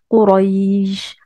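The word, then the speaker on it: قريش: n'allez pas dire Quraïj, vous n'allez pas appuyer sur le ya. Vous voyez? C'est pour ça qu'on dit lin, ça veut dire léger. C'est-à-dire que vous allez la prononcer de manière légère, cette lettre. Et vous allez la prononcer tellement de manière légère qu'on va entendre une sorte de prolongation du A. Quraïj, ré, ré.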